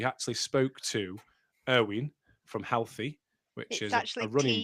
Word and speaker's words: HLTHY: We actually spoke to Erwin from Healthy, which is actually a running Team brand.